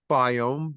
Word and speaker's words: Biome: Doctor's Biome, DOCTORS, BIOME. Sounds like biome, but it's pronounced biome.